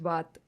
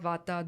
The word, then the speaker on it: vata: We say kaf, pit, vat. But it's actually kapha, pitta, vata, dosha.